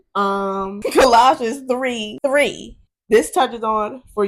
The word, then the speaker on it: Colossians: And then I also have, how do you pronounce this? Colossians. Colossians.